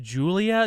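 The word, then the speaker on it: Giulia: they come across uh is it pronounced Julia just spelled different yes I believe so Julia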